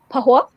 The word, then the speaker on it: Pahua: Her books include, I don't want to butcher the pronunciation. How do you say PAHUA? PAHUA.